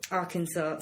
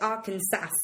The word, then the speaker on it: Arkansas: Arkansas, which is spelled Arkansas.